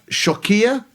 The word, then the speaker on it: Xewkija: There's one church there in a village called Shokia. Shokia. There's one village... Shokia, which is spelled Xewkija, which isn't a name for a village, it's a high security password on Amazon.